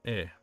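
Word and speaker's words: へ: When used as a particle, e is pronounced as e.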